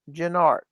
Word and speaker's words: Gennard: I'll mention it now because of last episode's comment, but my last name is pronounced Gennard.